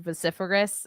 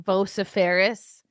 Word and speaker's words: vociferous: I couldn't figure out how to pronounce the word vociferous I kept saying vooperis what is that word it